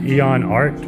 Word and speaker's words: Eon Arts: ID okay no this is cool so you pronounce it Eon art Eon art yeah okay what's the leg what's